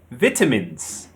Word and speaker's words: vitamins: In British English, it's vitamins. Vitamins. The stress is on the second syllable. Vitamins. Vitamins. But in American, they say vitamins. Vitamins. The stress is on the first syllable. Vitamins. So we have vitamins and we have vitamins.